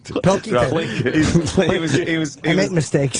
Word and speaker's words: Pilkington: Carl Plinkington, or is that how you say his name? Plinkington. Pilkington.